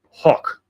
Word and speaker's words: Hoch: So his birth name is Abraham Lieb Hoch, which I'm trying to do the German pronunciation, spelled H-O-C-H.